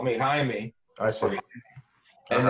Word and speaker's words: Jaime: This I don't know if it's pronounced Jaime, like in its real sense, or is it Jamie? My mother says Jamie, Uh huh. but half of the people say Jaime, half of them say, Yeah.